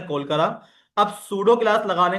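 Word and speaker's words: pseudo: पास सूडो ठीक है सूडो की स्पेलिंग बता रहा हूं पी एस यू डी यू P silent है इसका ठीक है अब करना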